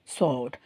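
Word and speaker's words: sword: சோ இது வந்து ஸ்வாடுன்னு சொல்லக்கூடாதுட வர்ட் நமக்கு சோட் சோ இந்தட வந்து கிட்டத்தட்ட மிஸ் பண்ணிறீங்க நீங்க எல்லாரும் சோட் சோ சோட் sஓஆர்டி சோட்ன்ற மாதிரி சொல்லணும் சோட்ஸ்லைக் சோர் சோட் இந்த வாலுக்கும்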